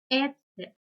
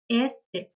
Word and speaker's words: Ärzte: So, for example, here A umlaut, er, set, A is pronounced as Ärzte, Ärzte.